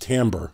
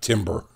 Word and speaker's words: timbre: common test equipment by the way Paul it's pronounced Tambor not timbre so these claims are what Paul believes or